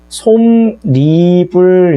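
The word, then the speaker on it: 솜이불: 자, 그러면 어떤 것들이 있느냐라고 하는 걸 생각을 해보면, 자, 예를 들어서, 자, 솜, 이, 불 이렇게 했을 때 얘가 발음상으로 솜, 니, 불 이런 식으로 발음이 된다는 거죠.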